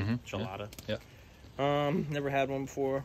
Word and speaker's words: Chelada: Am I pronouncing that correctly? Mm-hmm. Chelada.